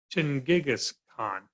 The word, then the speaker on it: Genghis Khan: And that's Genghis Khan. So the word Genghis Khan is actually his title, the Great Khan. We can also see this as Chinggis Khan. Chinggis Khan, however you wish to pronounce it.